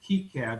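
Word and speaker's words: KiCad: before for this one he wanted to try key cad it's called i understand that's the proper way to pronounce it um and so this was his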